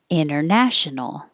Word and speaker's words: international: and the last word international and so we don't say the t you can you can say international but most native speakers are going to skip the t and say inner international